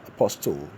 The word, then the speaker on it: apostle: Of course, you hear people pronounce the word as apostle. Apostle. No. The T is silent. The word is rendered as apostle.